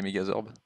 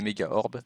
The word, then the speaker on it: Mégaorbes: Oui, bah ça se prononce comme ça en fait, les Mégazorbes. Ah non, il n'y a pas de S. Bah les Mégaorbes, c'est super worth.